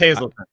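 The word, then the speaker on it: Hazleton: I think Frackville is funnier, but no, I was looking at Hazelton or Hazeltown, however the fuck you say it. It's Hazelton.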